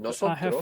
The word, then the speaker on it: nosotros: I have Nosotros- finished it.